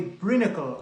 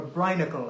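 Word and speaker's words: brinicle: An undersea icicle is called a brinacle or a brinacle. I don't know if it's brine like briny sea, but it's spelled brinacle or ice stalactite.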